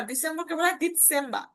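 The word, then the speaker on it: Dezember: বলা হয় অক্টোবা নভেম্বরকে বলা হয় নভেম্বর ডিসেম্বর ডিসেম্বর বয়সে ঠিক আছে ওকে আরেকবার বলিয়া এপ্রিল মাই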